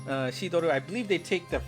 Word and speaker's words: Shidoru: Gacha number 2, we've got Shidoru. Shidoru, I believe they take the French pronunciation of cider here for us English-speaking folks. So this is going to be cider.